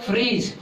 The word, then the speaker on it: fridge: फ्रीज, FRIDGE, यही होता है फ्रीज का स्पेलिंग।